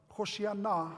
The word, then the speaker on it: Hosanna: You see, Hosanna, Hoshiana, as it's pronounced in Hebrew, is actually a plea.